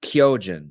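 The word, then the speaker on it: 巨人: is going to be the Japanese word for Titan and that is kyjen kyjen is spelled k y o j i n and kyjen is obviously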